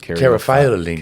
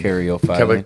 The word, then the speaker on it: caryophyllene: I think one that rounds it out is I pronounce it Caryophyllene. Caryophyllene.